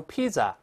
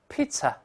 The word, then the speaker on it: pizza: 它误读成 pizza，不是这么读的哦。中间还是发 ts 这个词，这个声音跟老师大